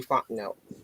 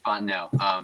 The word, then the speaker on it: Fontenot: Arthur Smith and Terry Fontenot? If I said it right, I hope I did. I'm liking it a lot. So, yeah, you did. Terry Fontenot, not Fontenot. It's Fontenot.